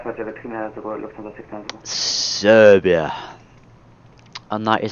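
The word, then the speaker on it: Srbija: Serbia.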